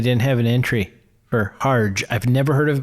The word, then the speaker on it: Harge: Chandler plays her husband har that's an interesting is that have you ever heard of a har they said Harge oh okay and no